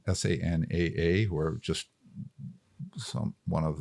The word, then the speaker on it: SANAA: It was designed by one of the partners at Sanai. I always pronounce it wrong. Sanaa, who are just one